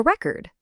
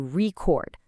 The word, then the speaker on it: record: We stress the second syllable and boom, it's a verb. To record. I need to record this message. It's the exact same spelling, but different music and a totally different meaning.